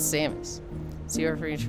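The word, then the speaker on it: Samus: Um, it's Samis. See you to pronounce You look like a queen.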